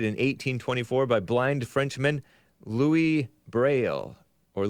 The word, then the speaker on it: Louis: 1824 by blind Frenchman Louis Braille or Luis Braille I don't think they I think the S is silent and they it comes